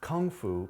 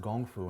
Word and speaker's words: kung fu: Well, you know what's interesting, and I always tell people this, Kung Fu, pronounced Gong Fu in Mandarin, is translated as being a skill acquired over time.